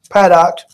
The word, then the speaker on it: Paddock: get that but anyway so the gunman Steven paddock product fed out that's how you pronounce it product I retired accountant an avid gambler and educated